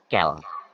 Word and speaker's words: quel: Nah, sekarang ada ini bacanya sama ya, kel. Di sini ada kel, kel, kel, kel. Seriusan ini bacanya kel, kel, kel, kel, kel gitu.